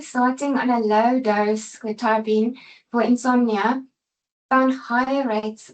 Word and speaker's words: Quetiapine: I do Google how to pronounce it. Quetiapine is how it says.